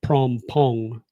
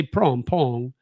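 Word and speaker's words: Phrom Phong: The h is silent. So it's the p. So phr is prom, not from. So like pom pong.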